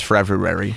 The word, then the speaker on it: February: There's 2 R's in there, Travis. It's February.